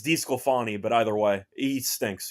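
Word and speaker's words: DeSclafani: I don't think I've ever heard him pronounced that way, by the way. DeScalafani? DeScalafani? I don't know. DeScalafani? Yeah. What is it? I've always hated that guy as a pitcher. I thought he sucked. He was on The He was on Giants. the Giants. He was on Cincinnati for a bit. I never thought he was good, but I don't know what that pronunciation was, to be honest.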